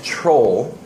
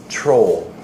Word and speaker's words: troll: the term control internet troll PR 0 ll the pronunciation is maybe a little bit hard for Korean speakers r and l combined troll and it comes to